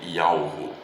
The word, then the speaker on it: Yahweh: o que sou, mas a pronúncia do tetragrama sagrado, que são as 4 consoantes hebraicas do nome do Criador, que é Yud, Ve, Vav, He, se lê Yahweh, né?